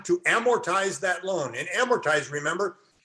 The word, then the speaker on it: amortize: amortize that loan and amortize remember is a three syllable word it's the second most